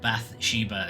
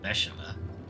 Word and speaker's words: Bathsheba: And Bathsheba is how everyone else is pronouncing this one, whereas it's pronounced Bathsheba.